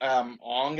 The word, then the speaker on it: Aang: So instead of Aang, it would be Ong, I guess.